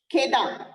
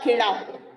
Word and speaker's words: खेड़ा: This is number 4 खेदा और खेड़ा. Either ways you can pronounce it.